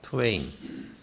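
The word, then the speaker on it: twain: 투웨인. 자, 그럼 투웨인 그러면 이게 두 사람 짝을 나타내는 그런 어떤 시적인 단어인데 어 마크트웨인 하면은 어 아실 겁니다. 그렇죠? 마크 투웨인의 그 투웨인과 발음과 철자가 같아요.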